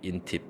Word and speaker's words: INTP: mean some people say INTP in Korea but some people say intip oh they're shorthand for